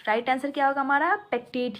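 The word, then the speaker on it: pectate: First दिया हुआ है काइटिन, सेकंड दिया हुआ है सेलुलोज, थर्ड दिया हुआ है एल्गिनेट एंड फोर्थ दिया हुआ है पेक्टेट।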